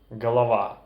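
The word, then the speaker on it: голова: gu in russian for example horrid gorod Halawa galava hiroi hiroi the next pair of sounds that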